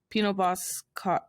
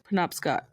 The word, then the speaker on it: Penobscot: short stories about one's family life on the Pino Boscott Reservation. I'm so sorry this entire podcast for how I can't Penobscot? pronounce things. Anyways, Penobscot.